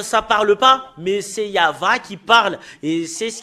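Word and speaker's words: יהוה: Yava. Rien d'autre que ça. Et Yav, ça parle pas, mais c'est Yava qui parle.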